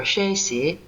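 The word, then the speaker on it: 十四: It is in the very way that it is pronounced, 1-4 shesi, which sounds like want to die.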